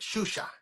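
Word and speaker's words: Xuxa: not the h sound, it's the sh. That's why if you remember that chick that used to have a show back in the day on Spanish Channel, the Shusha, and it was Yeah, spelled with an yeah. X. That's why it was like that.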